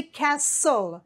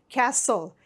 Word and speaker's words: castle: know that you say castle you don't pronounce the T it's silent castle c is for castle